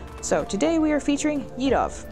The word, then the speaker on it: Yadovv: today we are featuring edov and yes that is how you say his name I have run into